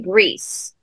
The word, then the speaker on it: Brice: do in the South, but it's spelled with an I. So it's actually Brees, Now, we live in an English-speaking country, so for many generations, it was turned to Brice, but the Brices were French Huguenots.